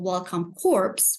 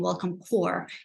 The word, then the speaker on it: Welcome Corps: second language you might see the program called Welcome corpse but actually the pns is silent so you'll hear us a lot saying welcome core instead um and I I would like to